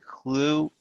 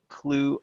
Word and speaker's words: Clew: um but there is also an app called clue which and that's spelled clew and that's an interesting app where